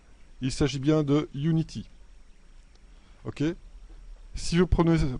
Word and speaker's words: Unity: attention à la prononciation il s'agit bien de unity ok si vous prenez prononcé sa united ça veut dire que vous êtes en 3d en 3d il prononce united en jeu vidéo on prend on dit unity ses tresses est fondamentale alors vous voyez que